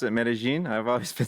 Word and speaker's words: Medellín: And you pronounce it Medellin?